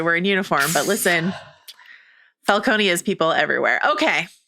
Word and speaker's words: Falcone: The differentiations of Falcone and Falconee across the various films and shows is really hard for me. By the way, it's I'm I'm going to go with the Jonathan Crane pronunciation, which is Falcone. That's what I'm going to stick with. That's I think that's the appropriate thing here for this discussion. But you know, we've been in Falconee land much more recently and